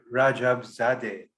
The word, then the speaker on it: Rajabzadeh: And we have with us correct me if I'm wrong, Tom, the founder of International Ball, Tom Rajabzadeh.